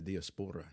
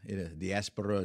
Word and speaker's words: diaspora: And I think it's the diaspora. Diaspora, depends on how you want to accent the syllable there, right?